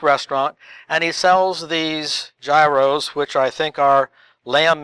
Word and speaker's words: gyro: Gyro? Gyro? Someone from Greece would probably say, no, that's euro, not gyro.